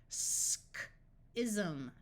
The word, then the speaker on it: schism: Schism, schism. Anytime you have a suffix of ism, the S will take the Z sound.